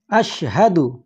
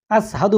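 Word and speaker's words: أشهد: তারপরে আশহাদু, আশহাদু, এখানে শিন রয়েছে, তাহলে শিনের উচ্চারণটি কী হবে? শা, শা। আশহাদু, আসহাদু বলবেন না, আশহাদু, আশহাদু আল্লা ইলাহা, আল্লা ইলাহা।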